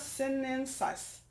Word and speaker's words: sinensis: tea which is camellia sinensis sinensis si in E in s is what a where are my science science nerds we learn to pronounce this correctly contains a group of